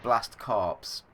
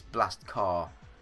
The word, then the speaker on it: Blast Corps: some some hard Corps because we don't pronounce car with the p it's it's a weird it's a weird world that we live in but yeah so I would call it blast corpse um but I think